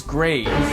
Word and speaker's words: grave: polished silicon sphere well the answer is grave or rather grav as it would have been pronounced in the original French you see the grav